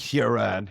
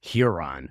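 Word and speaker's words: Huron: Lake Heron uh UF hon how do you pronounce that you're from the Midwest Lake hiron hiron okay yeah so uh the UFO thing uh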